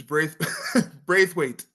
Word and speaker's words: Braithwaite: And the And pronunciation of the last name is Braithwaite.